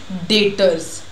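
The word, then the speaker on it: debtors: देखो इसमें जो डेटर्स है ना, लिखा तो डेब्टर्स है बट जो टी है वो हमारा साइलेंट होता है, तो इसको आप लोग हमेशा कैसे प्रोनंशिएट करोगे, डेटर्स।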